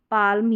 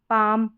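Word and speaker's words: palm: इन spellings में भी इसको walk, चौल्क, cooled, should, काल्म, पाल्म या बाल्म नहीं पढ़ेंगे। इन सभी में L साइलेंट रखेंगे। वॉक, चौक, कुड, शुड, काम, पाम, बाम, इस तरीके से आपको पढ़ना है।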